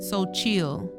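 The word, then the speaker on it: Xochitl: Sochitl. It is Sochil.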